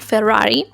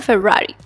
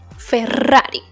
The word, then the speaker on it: Ferrari: speak faster than a Ferrari. Not a Ferrari, Ferrari, okay? Because in Spanish, 2 R's sound really strong. Ferrari.